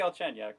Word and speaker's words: Galchenyuk: And Matt, help me with that pronunciation because I always trip Alex over it. Galchenyuk, yeah.